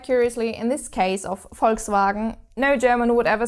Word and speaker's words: Volkswagen: know the car brand Volkswagen Volkswagen you probably will have pronounced it wrong all your life but you have to pronounce this V like an f and actually quite